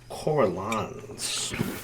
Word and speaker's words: Carolan's: My time, my Carolans. That's actually how you pronounce it.